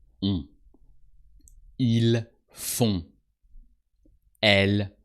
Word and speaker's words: font: Ils font. Elles font. On. O-N-T, and the T is silent.